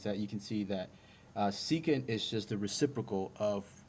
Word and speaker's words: secant: Next, this is the SEC of theta, and this is pronounced secant.